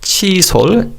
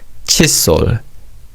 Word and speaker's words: 칫솔: Now, in terms of pronunciation, although 솔 is pronounced as 솔 when it's used alone, when it's used with 치 to say toothbrush, is pronounced as 솔. So it's not 치솔, it's 칫솔.